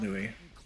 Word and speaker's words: Louis: enough by the way St Louis is pronounced Louis but Louisville is Louisville okay I could never